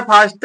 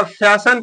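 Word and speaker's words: fasten: करना फिर अगला वर्ड है फान लिखा गया है फास्ट लेकिन पढ़ा जाता है क्या फैशन पढ़ा जाता है एफ ए एस टी ई एन य टी साइलेंट है इसके माने क्या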